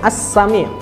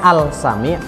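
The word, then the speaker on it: As-Sami': mengetahui yang ketiga adalah asam ya ya tulisannya Al sange tapi cara membacanya adalah asam ya Iya sepertinya adalah yang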